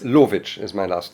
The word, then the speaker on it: Lowitzsch: and uh I made how do you pronounce Lich is my last name Lich right okay okay okay in Karachi right now